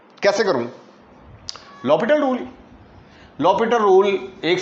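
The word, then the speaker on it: L'Hôpital: Spelling इसके हॉस्पिटल के हैं जी, पढ़ते इसको लॉपिटल रूल हैं.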